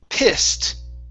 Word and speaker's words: pissed: Let's go to pissed. Okay. Instead of pissed, okay, it's a short I sound. I, p, and then the ed is a t. Pissed.